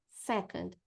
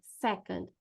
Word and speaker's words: second: é um som de second, second. Se a gente colocar a força aqui no sé, fica mais fácil de falar esse second, second, não é second, second, tá?